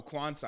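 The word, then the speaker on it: Quansah: Or how do you say his name? Oh, Kwanzaa.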